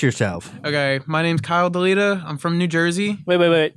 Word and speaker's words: Dailyda: Okay, my name's Kyle Dailyda. I'm from New Jersey. Wait. What? Say that last name again. Dailyda.